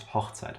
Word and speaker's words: Hochzeit: Unless you mean wedding, which is Hochzeit, then it's a short O sound.